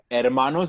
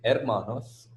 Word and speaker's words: hermanos: Yo tengo dos hermanos. The H is not pronounced here also. No, it's not pronounced over here. The H is there, but it's very silent. Yeah. There's more stress on the E.